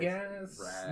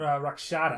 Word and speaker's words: Rakshata: Radagast? Not Radagast. No. Rakshata.